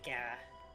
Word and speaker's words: Gyarados: Like Gyarados? Yeah. It's an interesting one. I would say Gyarados. Gyarados. Yeah. I go Gara. Gara? I guess like the Y is silent for me.